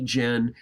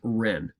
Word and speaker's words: ren: first of all sometimes you're gonna see Jen as Ren r.e.m and in many books it will be presented that way so it's just two different ways that it is transliterated and pronounced but it means the